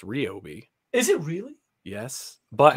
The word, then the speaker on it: Ryobi: for those out there that like ryobi it's pronounced ryobi is it really yes but actually if you